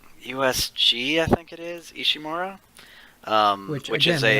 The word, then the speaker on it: Ishimura: By the way, they mispronounce it. Really? They say Ishimura, and it should be Ishimura.